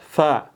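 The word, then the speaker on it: فاء: Gigit ya gigi atas gigit bibir bawah fa dan keluar anginnya fa. Kalau p pa pep enggak keluar anginnya.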